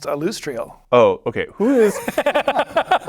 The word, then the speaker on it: Alustriel: alustriel silverhand you you'll see her name is pronounced alustriel oh okay okay who is I'm going to